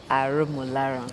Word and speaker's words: Aromolaran: Sam Aromolaran. Yes. Okay, yes. Yeah, you sound, you pronounce very well.